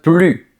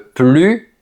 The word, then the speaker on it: plus: Le mot plus est un excellent exemple parce qu'il peut se prononcer de plusieurs façons. Regarde cette phrase. Je n'en veux plus. Ici, ça veut dire je ne veux plus de cette chose. Dans ce cas, on prononce plus parce que c'est une négation.